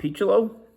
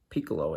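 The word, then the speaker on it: Picciolo: bill travers jerry remy rob pichulo piccolo i think is how they pronounce it peachelow or piccolo rob piccolo i think roy howell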